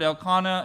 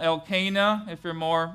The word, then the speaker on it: Elkanah: Both were married to Elkanah, and by the way, several appropriate pronunciations for that word, Elkanah, Elkanah, if you have a southern persuasion, maybe. Both were married to Elkanah, an Israelite living in